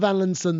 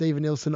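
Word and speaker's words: Evanilson: We're going to start with Van Linson, though. And I am aware that his name is pronounced Even Nilsson. I just like calling him Van Linson because I don't know why.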